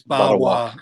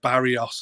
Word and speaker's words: Barrois: And he was like, it's Barrois, and he spelt it like phonetically. I was like, all right, okay, because I was calling him like Barrios or some shit.